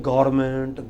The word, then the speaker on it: government: lot of people said government government it is government what is it government what is it government government government government come break it into syllables government and put the stress on the first government together it is